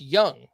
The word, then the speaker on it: Jung: more coming here and josh young is apparently getting called up by the rangers on friday that's spelled j-u-n-g for anyone trying to